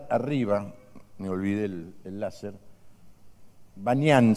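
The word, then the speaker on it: Banias: me olvidé el láser, Banyan se llama, es Pan-ñan, pero los árabes no pueden pronunciar la P, entonces ahora todo lo que tiene P se llama B larga, Banyan, allá arriba, ¿lo ven?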